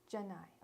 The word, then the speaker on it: Janae: Like Bill Nye the Science Guy? Sorry, that's the only way I know how to, like Nye or Janai, right? Is that it? Janai, okay.